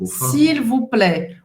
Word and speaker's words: s'il vous plaît: S'il vous plaît, o T ao final não vai ser pronunciado e o A, I